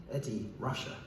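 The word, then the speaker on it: Ed Ruscha: Incidentally, around that time, Rushcher printed a faux phonetic version of his name on cards he handed out to help people pronounce it. Eddie Russia.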